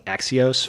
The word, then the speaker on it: Axios: While we're all here together, can we talk about the fact that we've been mispronouncing Axios for almost a year now?